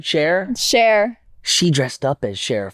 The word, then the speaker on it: Cher: Cher.